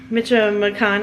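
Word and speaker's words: Michoacán: All right, Lindo Michoacan, not Michoacan. Shad told me I was saying it wrong.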